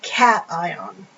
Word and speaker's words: cation: it becomes positive and we call that a cat ion okay pronounce that cat I if it gains electrons